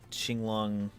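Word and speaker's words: Qinglong: Uh Q is pronounced ch in most cases, sometimes close to j. So ching long is ching long.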